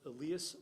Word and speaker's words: Elias: And I'm going to work hard to pronounce this correctly because it's Elias. Elias, thank you very much. It's pronounced Elias Wolford.